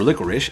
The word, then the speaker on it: Licorice: you beat medula you unlock licorice so or licorish as it's supposed to be pronounced and she is actually very decent but